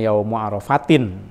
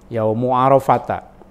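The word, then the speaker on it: يومُ عرفةَ: Jangan membacanya Yaumu Arafatin ya, walaupun itu mudhof ilaih. Yaumu Arafata. Apa namanya? Isim ghair munsharif gitu ya.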